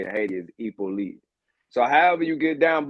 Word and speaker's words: Hyppolite: The last name is the correct way to pronounce it is Hyppolite. But my whole life I've been saying it wrong too, so no pressure. Because here in the American way of saying it is Hyppolite.